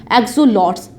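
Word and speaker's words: axolotl: एक्सोलॉट्स, pronounced as एक्सोलोटस, ठीक है।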